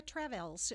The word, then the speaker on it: Trav-Alz: She's with Trav-Alz. I always say it wrong. Trav-Alz? Yeah, Trav-Alz. So Trav-Alz. It's kind of like it's a play on travels, except the Trav-Alz.